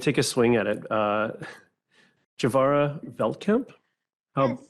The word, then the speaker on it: Juvarya: I am Juvarya, rhymes with Bavaria, Veltkamp, and I'm Director of the Canada Climate Law Initiative.